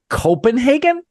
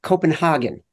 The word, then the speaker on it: Copenhagen: by DraftKings, is joining us from, I think, Copenhagen? It's pronounced Copenhagen.